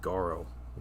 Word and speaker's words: Goro: couldn't pronounce my name they pronounce it like it was Spanish or something I just like no man just Goro that's all it is yeah they're like rolling the r and everything yeah 40K was uh